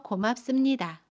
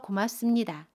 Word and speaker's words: 고맙습니다: 발음은 도와주셔서 고맙습니다. 습은 씀으로 발음해요. 도와주셔서 고맙습니다.